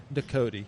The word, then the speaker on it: Ducote: championships the ultimate food fight I got Jay doot that's it you nailed it I nailed it